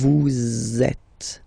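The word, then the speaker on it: vous êtes: And then in French we tend to have this le so it's like a link okay that we can make between the words. So in that case vu is ending with s and then you tend to make a little link between them. So vet z it goes like that vet.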